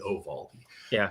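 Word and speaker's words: Eovaldi: But you got to pronounce it correctly. Ovaldi oraldi. A little a little bit of a Y, not E. Oo Valdi.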